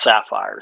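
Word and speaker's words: Safir: jonathan is spelled jonathan saphir sapphire spelled s-a-f-i-r but it's pronounced sapphire so those are the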